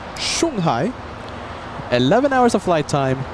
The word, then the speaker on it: Shanghai: Thank you, Kevin, for the pronunciation. Shanghai.